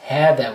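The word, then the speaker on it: هذا: Also, this word, it's hada, which is this. Although it doesn't have an alif, but when you pronounce it, it's as if there is an alif right there.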